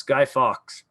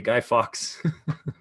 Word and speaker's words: Guy Fawkes: Yes, Guy Fawkes. So that's how you pronounce it, everybody. Guy Fawkes. Or Guy Fawkes, people say singular, not plural.